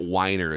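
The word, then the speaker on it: Winer: ESPN anchor uh named it's Matt Wier is how you pronounce it but but you know on the screen it would be we i n r and he would pronounce it Wier but we all know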